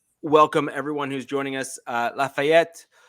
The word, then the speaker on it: Lafayette: Lafayette. Yes, I did pronounce that with a French accent. That's ETTE, which is typically French, so just deal with it.